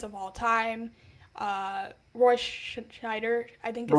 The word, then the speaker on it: Scheider: Uh Roy Scheider, I think is how you say his Scheider.